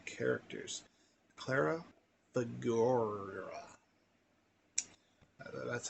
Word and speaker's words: Figueroa: Henry James, whose world was first revealed to me by one of my 2 characters, Clara Figueroa. That's how you pronounce it.